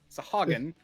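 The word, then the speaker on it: Sahuagin: Sagan are annoying to say because you Sagan, Sahagan, is how you say it, but it's like Sahwagetashoven. It's like how you spell it. It's spelled in such a way that my brain wants to pronounce it how it's spelled, and it's not correct ever.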